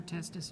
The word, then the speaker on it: testis: Testis is one. Yeah, I-S on the end, one.